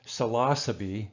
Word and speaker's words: Psilocybe: Now, the pronunciation of psilocybin mushrooms, it's actually psilocybe, according to the proper Latin, psilocybe or psilocybe, or so we usually say psilocybin or psilocybe.